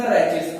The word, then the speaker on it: rachis: Clear pronunciation is the rachis. Either we also say race, okay, but rachis is the best word.